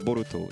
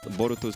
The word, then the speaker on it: Boruto: never considered what Bol Boruto's name actually was. It's like what sounds like Naruto Naruto. Boruto.